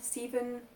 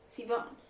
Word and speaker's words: Sivan: It took me a long time to learn how to pronounce Sivan. I was like Sivan, Steven, Seven.